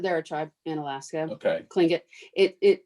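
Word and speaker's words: Tlingit: tribe in alaska okay cling it it it it's it's pronounced with a k but it's spelled with a t oh interesting um it's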